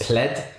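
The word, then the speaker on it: Plaid: in the us it's pled it's spelled p-l-a-i-d but you say as plead i think in the uk it's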